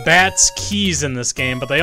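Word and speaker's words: Keese: are spelled keiss yeah I know but they're pronounced Keys uh go to the first Bush where there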